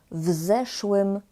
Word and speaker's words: w zeszłym: W zeszłym roku. Kiedy? W zeszłym roku. Co? Zeszły rok. Uwaga, jeśli chodzi o wymowę, to pamiętajcie, żeby mówić w zeszłym, razem. Nie w zeszłym roku, tylko w zeszłym roku.